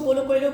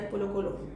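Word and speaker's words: Paulo Coelho: पोलो कोएलो की कुछ लोग उसको पोलो कोएलो कहते हैं, probably पोलो कोएलो इज़ the more appropriate word, but मेरी जो है ना प्रोनाउंसिएशन कुछ ऐसी है कि मैं कहती हूँ कि यार पोलो कोलो, वो बस एक फ्लो में गुजर जाता है।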